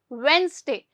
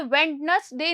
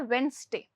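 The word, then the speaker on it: Wednesday: क्या बोलेंगे, वेंसडे। ध्यान रखिएगा, ये वेडनेसडे नहीं होता, ये होता है वेंसडे, ठीक है।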